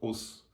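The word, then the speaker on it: 押忍: At least in martial arts, we have this word called os, and it's pronounced that way, with the kind of a strong, short accent.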